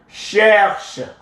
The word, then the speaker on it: cherche: Je cherche. The E is silent.